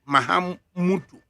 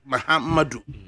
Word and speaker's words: Mahamudu: It's Mahamudu, not Mahamadu. All right, they come to as usual.